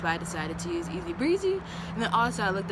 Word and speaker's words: ESZBRZE: it so easy breezy for those who were wondering how it is pronounced easy breezy it's very easy breathe